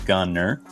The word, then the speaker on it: Gunter: I know there's a T there, but it is pronounced Gunner.